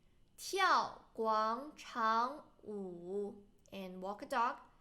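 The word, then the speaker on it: 广场舞: We should pronounce this one in second tone. 跳广场舞, 跳广场舞.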